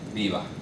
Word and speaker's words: viva: So something like in English you might say viva, right? Viva with the labiodental. But in Spanish it's typically going to be viva. So it's a bit different.